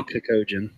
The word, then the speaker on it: Kakuto Chojin: It's actually Kakojin. Kakojin, yeah. Kakuto Chojin?